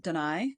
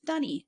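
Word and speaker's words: D'ni: But some people pronounce it Deny, some people pronounce it Dunny, as it was early on. The problem with that, as I was notified, was that in places like Australia, Dunny is basically a nickname for your outhouse.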